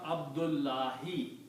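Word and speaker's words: عبد الله: Why did you start with the the because you do not pronounce one dhamma. Okay. So you pronounce only Abdu. Okay. Abdul and here you pronounce Allahi. Oh okay. So this dhma will become kasra. And the whole sent means the whole sentence will become abdullah.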